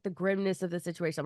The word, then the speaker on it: Grimnes: i m nees so someone's going grimnes Grims gri you got it the first time if you add s